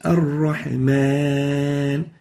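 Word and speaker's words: الرحمن: So it's Ar-Rahman, not Mon. So avoid nasalization when pronouncing the alif. Make sure that the alif is pronounced without ghunna.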